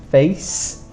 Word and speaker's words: face: mouth and eyes are remember to put a c not an S face and this e is not pronounced and then we have